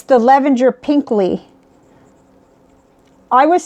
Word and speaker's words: Pinkly: It's the Lavender Pinkly. I was saying it wrong last time. I was saying Pinky, and it's P-I-N-K-L-Y, Pinkly.